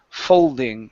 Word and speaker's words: folding: go to folding okay working on that l move the l to the front of your mouth full folding folding pastry following this